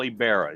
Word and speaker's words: Ybarra: Today, I have the wonderful pleasure of being able to share with Paul Ybarra. And is that how you pronounce it, Paul?